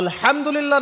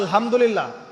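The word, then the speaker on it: الحمد لله: তো আলহামদুলিল্লাহ না বলে সে বলেছে আলহামদুলিল্লাহ। তো যে হায়ের উচ্চারণ পরিবর্তন হয়ে গেছে, এই কারণে অর্থ পরিবর্তন হয়ে দাঁড়াবে যে সমস্ত নিন্দা আল্লাহর জন্যে, যিনি জগৎসমূহের রব। আমার কথা কি বুঝতে পারছেন? শুধু হা এর মাখরাজ ভুল হওয়ার কারণে এই সমস্যা হলো।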